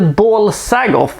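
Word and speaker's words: Bal-Sagoth: balsagot apparently it's supposed to be pronounced in the ball sagoth i understand but it sounds a little bit too close to ball sack i think so we're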